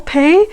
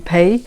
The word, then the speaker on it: Peir: So I always say, oh, you just remember Peir Paul, Peir? Yep. So that's the way to say my name. So hello, I'm Peir, namaste.